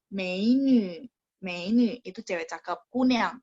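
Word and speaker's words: 美女: Masih ingat ya teman-teman, nya bacanya mulutnya dibonyongin ya, menu.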